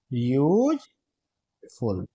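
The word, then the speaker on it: useful: यहां पर भले ही इसकी शुरुआत वोवेल से हो रही है बट इसका जो साउंड है बच्चों किससे आ रहा है? या से आ रहा है। इसे क्या पढ़ते हैं? यूजफुल।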